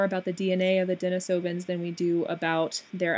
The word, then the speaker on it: Denisovans: few more things the Denisovans or I should I guess I should properly pronounce it as the Denise Evans not very much is